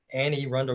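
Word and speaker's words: Anne Arundel: knew about calvert county annie arundel counties the way they pronounced it baltimore and back of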